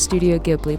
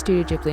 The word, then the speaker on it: Studio Ghibli: was studio ghibli i grew up with it pronounced as studio ghibli but then i later found out it's pronounced studio ghibli am i the only one am i the